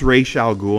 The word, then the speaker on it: Ra's al Ghul: under uh I know I know it's pronounced racial ghoul and everything like that but obviously this is how the game wants us to pronounce it and everything like that